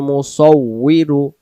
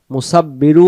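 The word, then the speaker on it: المصور: তাহলে সূরাতুল হাসরের ক্ষেত্রে আমরা যে আয়াতটি পড়ব, হুয়াল্লাহুল খালিকুল বারিউল মুসাউবিরু, মুসাউবিরু, মুসাব্বিরু, মুসাব্বিরু উচ্চারণ আমরা করব না, আমরা উচ্চারণ করব মুসাউবিরু, মুসাউবিরু।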